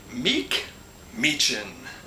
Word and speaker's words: McMechen: Somebody else in the comments said, I think it must have been a hillbilly that told me this, because they said it's pronounced McMechen.